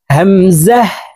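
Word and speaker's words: همزة: খরচ চিহ্ন দেওয়া আছে তো এই হামজাকে টান ছাড়া পড়তে হবে তাড়াতাড়ি করে পড়বো হামজাহ হামজাহ ইয়া ইয়া ইয়া ইয়া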